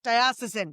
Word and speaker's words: diocesan: Diosisen. Yes. Yeah. Would be diosisin priests.